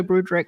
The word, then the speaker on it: Broodryk: And for the audio listeners, it's Waldo Broodryk, which is spelled WALDO BROODRYK.